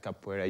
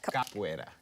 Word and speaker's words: Capoeira: Yes, when I start Capoeira, you were giving a nickname.